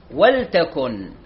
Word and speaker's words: ولتكن: أيضا نفتح على صفحة 104 عفوا 63 الآية 104 أول كلمة في الآية 104 ولتكن، ولتكن منكم أمة يدعون إلى الخير. كلمة ولتكن وليست ولتكن، مو تكسر اللام، ولتكن اللام ساكنة.